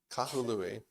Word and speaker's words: Kahului: So there's 3 consonants, three syllables. Kahului.